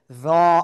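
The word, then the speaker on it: ر: দাঁতের আগার সাথে লাগিয়ে মোটা আওয়াজে একালিফ টানিয়া র অক্ষরটি উচ্চারিত হয়।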